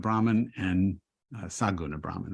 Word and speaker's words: Saguna: help me with the pronunciation, Nirguna Brahman and Saguna Brahman, right? Yes, that's right. right. I say that better than I did? Nirguna and Saguna is good.